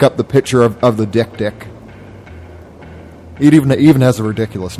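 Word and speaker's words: dik: apparently there's an animal called the Dick, which is spelled D-I-K, and it's this tiny antelope sort of creature, and it marks its territory by crying, and it looks really sad.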